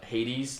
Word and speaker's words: Hades: is Andrew it's it's it's pronounced Hades like the Disney character in the movie Hercules yeah yeah it's not